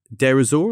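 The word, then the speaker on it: Deir ez-Zor: So this incident happens in February 2018 in Derzor. Am I pronouncing that right?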